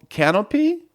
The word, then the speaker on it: Kanopy: It's called Canopy. It's spelled Kanopy.